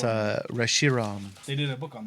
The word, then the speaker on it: Reshiram: Dude, Rishmaron. why do you listen to me? What you got? Rishmaron. Oh, you pronounce it. Rich Man. Rich Man. It's Poor Man. Reshiram.